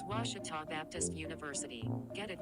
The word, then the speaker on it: Ouachita: at a baptist university back in texas everybody pronounces it wichita but really it's ouachita washington washington how would you pronounce it it's washita baptist university get it right it's watertall people it's wachata washita as a student athlete in college i first